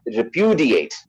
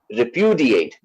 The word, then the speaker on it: repudiate: So it is like repudiate, repudiate. That's how this word is pronounced.